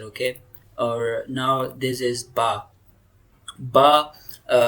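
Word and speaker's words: باء: Or now this is ba. Ba makhraj is lips pressed together and released.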